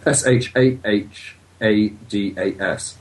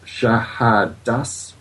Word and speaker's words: Shahadas: It may be better if I spell it. S H A H A D A S. Shahadas.